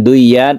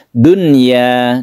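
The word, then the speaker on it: دنيا: Karena harus jelas, ini adalah pengecualian terhadap idgham bighunah. Bukan " duyya" dengan shadda, bukan, tapi "dunya". dunia. Jadi kita membacanya apa adanya, nun sukun diikuti oleh ya.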